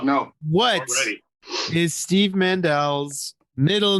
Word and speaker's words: Mandel: world has been brainwashed by somebody else who spells his name the same way but pronounces it incorrectly, who's been famous for 100 years.